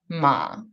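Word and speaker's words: 马: When it's first tone, it's mother, ma. When it's third tone, it's horse, ma.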